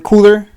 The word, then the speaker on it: KULR: to time bottoms he's still saying it wrong cooler cooler is that what you want me to